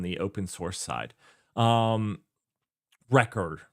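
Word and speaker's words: Rekor: Well, uh, or Rayor or any of those things on the open- source side. Um, record, not Rayor. Uh, it's spelled funny and I I sounded out how it like Anyways, record.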